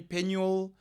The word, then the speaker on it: Penuel: don't know but um what I prefer is pen w i l l pen will okay I prefer that pronunciation it's just a preference but you can call me penel penel it's fine but that's that's where